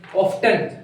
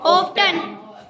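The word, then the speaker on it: often: जो वर्ड है ना ये जो वर्ड है इसको बच्चे ऐसे बोलते हैं ऑफ्टन क्या कहते हैं ऑफ्टन तो ये ती है ना यहां पे भाई साइलेंट है क्या है साइलेंट इसे कहोगे ऑफ इसे क्या कहोगे ऑन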